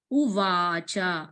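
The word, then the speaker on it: उवाच: So Arjuna Uvacha. If you see U-V-A-C-A. If C was there, you have to pronounce it like Cha. Uvacha.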